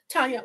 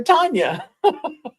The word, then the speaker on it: Tonja: which is Russian for Tanya. And so her mom named her Tanya with a J with a J because Tatiana was spelled with a J.